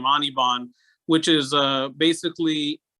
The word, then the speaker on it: Anirban: nirvana referred to as nirban. So my name is not Nirban. Anirban is that the way it's spelled. As it turns out, I pronounce it Anirban.